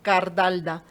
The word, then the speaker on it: Cardalda: que es y pensaba, son todas as Alba a Cardalda, Todas son as.